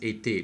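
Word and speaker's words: été: noticed uh summer we it's written with their two either but it's it's pronounced etay because actually on the two is there accents on top and then when you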